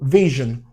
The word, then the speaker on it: vision: So when you see S-U-R-E coming in that kind of situation, it most often will be pronounced as je.